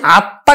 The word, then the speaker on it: আত্মা: আছে ত এর সাথে, এই তটা কিন্তু দুইবার উচ্চারিত হবে। তার উচ্চারণ আমরা করব কিন্তু বাংলা সরেয়া তয় হস আত্মা, তটা দুইবার উচ্চারিত হবে এবং এই ম ফলার জন্য কিন্তু চন্দ্রবিন্দু হবে।